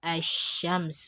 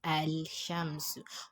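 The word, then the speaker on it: الشمس: Like here we have Ashamsu. As you can see here, it is never pronounced as Al Shamsu. When you say Al Shamsu, you are not giving the shin shadda, and then you are pronouncing the wrong thing that way.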